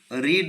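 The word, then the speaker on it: read: দিয়ে দেবে does she রিড the newspaper daily দেখো এখানে ইজ লিখবো ডাজ প্লাস রিড সমান হচ্ছে রিড সেজন্য ইজ ইজ the newspaper is the newspaper রেড এই প্রোনাউন্সিয়েশন টা থার্ড ফর্মে হচ্ছে রেড বাই সি K change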